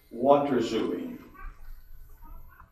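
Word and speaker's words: waterzooi: different pronunciations preferred is what rasoi yes it's water assuming water assuming it's from a Dutch word got started writing as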